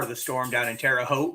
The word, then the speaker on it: Terre Haute: Got part of the storm down in Terre Haute. Rhymes with boat.